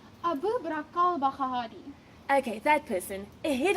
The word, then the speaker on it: al-Baghdadi: Abu Bakr al-Baghdadi? No, you're pronouncing it wrong. Abu Bakr al-Baghdadi.